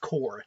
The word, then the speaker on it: Corps: That is the Lantern Corpse. I think I keep saying corpse, but it's even though it's spelled C-O-R-P-S, it's actually pronounced core, C-O-R-E.